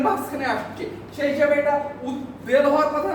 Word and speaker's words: উদ্বেল: উদ এই উপসর্গের পরে যদি আসে তাহলে বয়ের অর্থ বয়ের মতোই হবে। বয়ের অর্থ বয়ের মতোই। এটা হবে উদ্বেল।